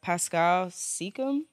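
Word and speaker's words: Pascal Siakam: my pick again we're gonna go for uh Pascal seeum yep that's how you say it yep we're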